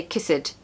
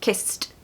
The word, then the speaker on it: kissed: one more Point sorry don't pronounce the E so the e d is almost like a t sound and so we're not going to say kiss it it's kissed kissed good luck number nine